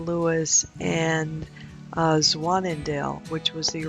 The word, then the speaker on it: Lewes: the swans and yes that is Lewis not lose as is commonly mispronounced the Americanized pronunciation of